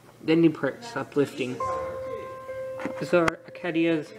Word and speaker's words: Arcadia: Arcadia. I think I've pronounced it Arcadia before, but actually I think it's Arcadia.